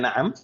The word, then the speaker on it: na'am: Na'am, ma makna na'am? Iya. Ya. Kalau la? Tidak. Ini juga cara membacanya jangan sampai salah, ya. Na'am. Na'am, itu pendek semuanya. Na'am. Coba. Na'am, taib. Na'am. Jangan sampai dibaca ainnya panjang.